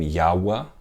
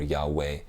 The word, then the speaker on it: Yahweh: God's promise Elijah Elohim yahwa okay or Jehovah which is a the latinized way of saying yahwa or Yahweh people pronounce it differently but it comes from the same word and so you know